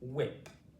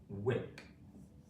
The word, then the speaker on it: whip: Usually it goes at the start of words, and the H, as you see, is silent. We don't say it.